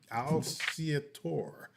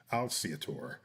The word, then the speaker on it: Alciatore: David Alciatore. Alciatore. Yeah, I want to pronounce it in its Italian way, and my tongue is not letting me. Alciatore.